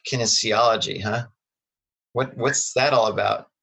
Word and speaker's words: kinesiology: at school, I'm assuming, with a major like kinesiology, huh? What's that all about? I don't even know how to say that word. Did I say it right? No. Kinesiology, which was just exercise physiology, right?